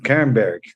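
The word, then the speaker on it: Kernberg: É isso mesmo, Kerberg.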